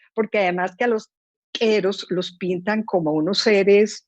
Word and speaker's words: Q'ero: Porque además que a los queros los pintan como unos seres pues mágicos. Entonces, Quero, claro, se pronuncia Quero. ¿No? ¿Quero? se pronuncia quero, Quero, ok. así como gutural, Ok, quero.